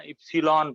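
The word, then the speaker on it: epsilon: इप्सिलॉन पढ़ते हैं बेटा, ध्यान रखना, ऐसा प्रोनाउंसिएशन है, बड़ा सरल है।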